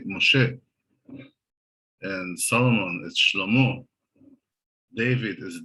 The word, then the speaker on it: Moshe: to say the name similar to francis moses you're supposed to say moshe and solomon is david